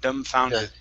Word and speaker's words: dumbfounded: Okay, give me a good D sound at the beginning. Instead of thumb, it's d, dumb, dumbfounded.